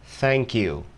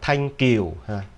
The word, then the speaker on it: thank you: Mình nói thank you, thank you. Các bạn đừng đọc là thanh kiều, thanh, không, tiếng Anh nó không có cái âm đó.